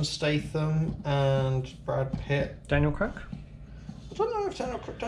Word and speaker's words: Craig: Why did it say Craig? It's Craig. Craig. His name is Craig. Daniel Craig. Daniel Craig. Don't pronounce it weird.